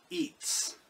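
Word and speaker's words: עץ: But the word tree in Hebrew is pronounced eats or eats.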